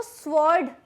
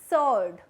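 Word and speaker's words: sword: Next is आपकी जो तलवार होती है उसको स्वॉर्ड नहीं कहते, डब्ल्यू साइलेंट होता है, उसे कहते हैं स्वॉर्ड। स्वॉर्ड नहीं कहना, स्वॉर्ड।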